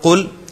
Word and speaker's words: قل: یہاں پر قل ہم کل نہیں کہیں گے، اور یہ پہلے کئی مرتبہ پڑھ آئے ہیں.